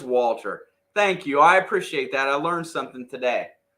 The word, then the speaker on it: Walther: The H is silent, so it is Walter.